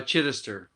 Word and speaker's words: Chidester: pronounce it right uh chitister is the easiest but it's it's a derivative of chai chester which means ki is christian and chester means settler so they were celtic